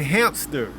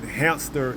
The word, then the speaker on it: hamster: employee was pronouncing pronouncing hamster as hamster okay and the boss was correcting the employee by saying you don't pronounce it with a p okay it doesn't have